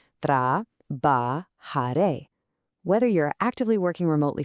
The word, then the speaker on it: trabajaré: Let's sound this one out carefully, watching that J which actually sounds like a soft English H. Tra ba ha re.